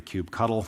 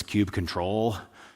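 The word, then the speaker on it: kubectl: at it'd be the cube cuddle now depending on who you ask this is pronounce different ways I've had some people insist aney no no it's cube control others say well I always spell it out cube CTL some people are fight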